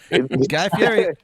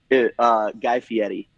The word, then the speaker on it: Guy Fieri: Guy Fieri. They were very specific with us when we filmed on how to pronounce his name.